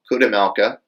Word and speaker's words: Chudomelka: It's Kudemelka, which Kudemelka is spelled CHUDOMELKA, at Kudemelka.